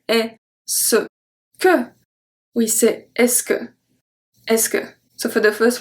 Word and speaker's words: est-ce que: French native speaker so how do you say it quickly fast speech simply we say ESCO ESCO ESCO okay so we don't say hey so good we sit ESCO ESCO so for the